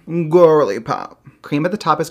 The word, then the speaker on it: Gworly Pop: Introducing Gworly Pop. Yes, you have to say it like that. Gworly Pop.